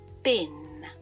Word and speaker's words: been: have been to Paris bean has a long sound e but in connected speech this becomes I've been to Paris so the long e of bean becomes bin repeat after me I've